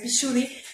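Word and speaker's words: Vishuddha: y la aventurita en bishudy que es Es el tercer ojo visuri se escribe pero es vichuda sería lapislázuli cuarzo azul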